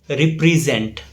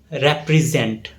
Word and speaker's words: represent: It's often mispronounced as represent. The correct pronunciation is represent. Represent. The stress falls on zent.